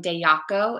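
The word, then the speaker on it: Dejaco: a lace top topper from dayaco it's spelled d-e-j-i-c-o and I loved that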